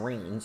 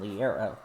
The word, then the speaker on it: Liera: I've been having trouble saying her name. I've been saying Allison Rains, so I need to start saying Allison Liera much.